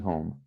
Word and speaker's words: home: House, lembra que H em inglês tem aquele H forte no começo, né? Então, house, house, né? E no mesmo com H em home, home, né? A gente pronuncia essa letra aí, tá? Então, house, ao, house, né? E home são sons diferentes.